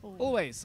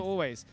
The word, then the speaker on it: Alvvays: I saw Always, which is spelled Alvvays, and I was not sure. Is it? I guess it's probably Always, and it's just the styling thing. But it could be Always, Always. But on stage, the singer said, "We're Always."